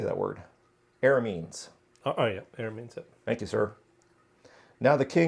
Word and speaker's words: Arameans: Arameans.